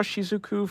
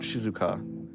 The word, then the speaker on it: Shizuku: I kind of want to draw Shizuku from I think it's Shizuku, not Shizuka.